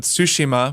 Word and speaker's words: Tsushima: after I'd gotten a code for Ghost of Tsushima, which I now know is how it's pronounced.